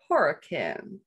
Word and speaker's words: Horicon: a new home in it's spelled horicon but it seems to be pronounced hurricane or hurricane wisconsin um and that i